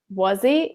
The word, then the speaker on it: wuzzy: When you say wuzzy, you don't pronounce he.